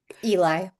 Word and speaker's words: Eli: Or is that how you pronounce his name? Eli.